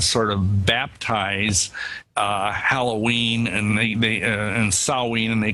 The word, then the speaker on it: Samhain: And the real name, I think, was called Samhain. Is that the correct pronunciation? Yeah, in the Celtic British Isles, yeah, Samhain. It's spelled S-A-M-H-A-I-N, but we say it as Samhain.